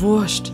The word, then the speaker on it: Wurscht: Aber Vorsicht hier, Wurst wird ganz normal geschrieben, wird es aber in diesem Fall, in diesem umgangssprachlichen Ausdruck als Wurst ausgesprochen, also W-U-R-S-C-H-T, Wurscht.